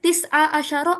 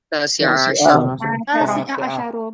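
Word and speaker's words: تاسع عشر: Kalau tanggal, misalnya ya sekarang tanggal 19, saya bilangnya at-tarikh tis'a asyara au at-tarikh atasi'a asyara. Ya, benar yang mana? Tasi'a asyara.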